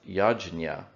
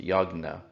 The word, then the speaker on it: yajna: a ritual known as yajna as it was known in the ancient language of the indo-aryans now it would be pronounced yagna the yajna or yagna